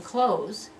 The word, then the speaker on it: clothes: And that's how you make the difference between I'm wearing clothes, close, one syllable ending in a z sound, and this one, closes.